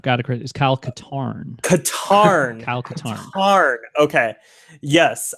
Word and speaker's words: Katarn: but the first mission you play as Kyle carton who is a character created for I've got to correct you I've got a crazy was Kyle Katarn guitar Alcantara art okay yes that's tantamount to